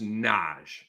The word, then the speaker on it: Naji: one more here n it's not Nai Marshall it's just Naj uh we just got